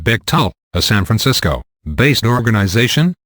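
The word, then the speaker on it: Bechtel: Becttel, pronounced Becttel, a San Francisco based organization.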